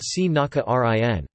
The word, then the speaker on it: Srinagarindra: Srinkrinthar is romanized as Srinagarindra but pronounced Srinakarin.